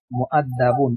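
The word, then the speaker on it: مؤدب: মিম, ওয়াও, দাল, বা। মুআদ্দাবুন, এখানে ওয়াওটা উচ্চারণ হবে না, ওয়ার উপরে ছোট্ট একটা হামজা আছে, এই হামজাটা উচ্চারণ হবে।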